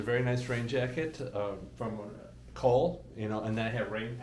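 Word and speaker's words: Kühl: nice rain jacket from Cole, and then I have rain pants the same way. I don't know if it's Cole. It's Kuhl.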